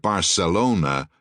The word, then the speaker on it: Barcelona: Thus, the pronunciation of the word Barcelona does not have the th sound as used in the series Faulty Towers.